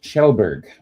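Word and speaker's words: Kjellberg: And it apparently, yes, the KJ makes a sh. Where is it here? What was the KJ? Well played. Well played. Sure, it makes an SH sound.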